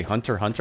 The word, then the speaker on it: Hunter x Hunter: I've always called it Hunter x Hunter. I think the first time I heard someone say Hunter Hunter, I was like, wait, are you not supposed to pronounce the X?